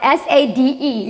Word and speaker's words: Sade: It's spelled S-A-D-E. Yes, Sade.